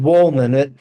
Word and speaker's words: Wohlman: But my name is Wohlman. It's pronounced Wohlman. I am a whole man, so you can go either way with me.